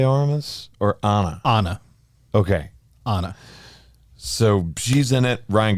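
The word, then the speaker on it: Ana: it Anna De armas or Anna Anna okay Anna so she's in it Ryan Gosling Chris Evans I mean just just those three people being in the movie to begin with a reunion of Anna and Chris Evans from knives out right which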